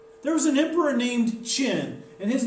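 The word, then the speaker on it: Qin: the modern era there was an emperor named chin and his name is spelled q-u-i-n and that's actually where China gets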